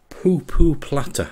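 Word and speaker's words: pu pu platter: But they're called poo-poo platter, I'm told, is the proper pronunciation.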